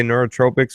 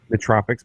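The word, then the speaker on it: nootropics: squirrel man let's go am I saying it right when I say neurot Tropics or is nut Tropics nut Tropics man it just sounds like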